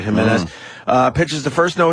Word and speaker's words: Jimenez: say Jimenez Jimenez yeah I think they pronounce that as an H right Jimenez uh pitches the first